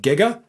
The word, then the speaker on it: giga: go up from there jiga a lot of people pronounce that giga that's 10 to the